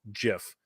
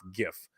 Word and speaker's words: GIF: idea that he says that it was actually supposed to be called Jiff not GIF all right so that's